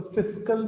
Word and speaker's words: fiscal: तो फिस्कल, पहली बात तो लोग नाम ही गलत प्रोनाउंस करते हैं। फिस्कल FISCAL होता है सरकार की जो बजटरी